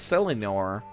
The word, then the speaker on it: Selenor: could go talk to selenor pardon me it's easy to remember his name side it sounds like the word senile it was the only dude